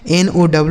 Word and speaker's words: know: के के साथ यन, तो जहाँ पर भी के साथ यन होता है दोस्तों वहाँ के साइलेंट होता है, मतलब उसे पढ़ा नहीं जाता है। लिखा तो जाता है लेकिन पढ़ा नहीं जाता है, तो इसे हम कोनो नहीं पढ़ सकते हैं, बल्कि इसे हम NOW इसे पढ़ेंगे नो।